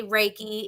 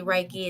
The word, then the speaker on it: Reiki: Now I said Reiki, but that is, you could say Reiki. It's the westernized Chinese version. You could also say Reiki. It's the Japanese proper pronunciation.